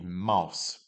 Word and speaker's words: Maus: AU is like saying ow. So we've got a mouse, die Maus. With an umlaut over the A, we've got die Mäuse, die Mäuse.